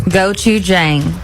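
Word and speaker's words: 고추장: You may know how to pronounce this. I do. Okay, how do you say it? Gochujang.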